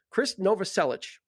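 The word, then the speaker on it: Krist Novoselic: went online and I looked up the phonetic spelling and it's Chris Nova selich okay well they can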